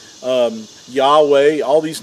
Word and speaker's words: Yahweh: the past you know that his name is pronounced as Yahweh and U it's four represents four Hebrew letters and uh when they're pronounced and sounded out then you'll have the pronunciation of Yahweh now in a lot of transl in a